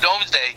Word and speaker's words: Domesday: And it's pronounced Domesday, but I think it's written Doomsday.